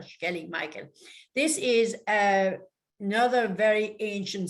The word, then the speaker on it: Skellig Michael: And, you know, when the Irish people are pronouncing their S's, like in Sláinte, even, it's a sh sound, so it's Skellig Rock or Skellig Michael.